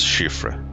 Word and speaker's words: Siofra: Yes, Siofra. That's how it's pronounced.